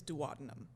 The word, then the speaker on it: duodenum: the intestine called, so the way that you actually pronounce it is duodenum. Okay. I call it a duodenum because I don't want to sound like a dwad, okay?